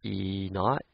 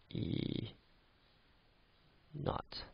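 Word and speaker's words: E°: This is pronounced here E naught, E naught.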